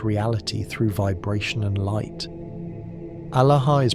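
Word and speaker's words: ܐܠܗܐ: Alaha is pronounced Alaha with equal emphasis on all three syllables and a strong aspirated H at the end. The sound starts in the belly, rises through the chest, and releases through the mouth with that final breath.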